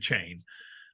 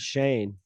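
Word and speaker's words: Chane: Oh, and Chain. Or Chan. What's his name? Chain? Shane. It's like Shane, but with a C, right? Yeah, but they pronounce it Shane.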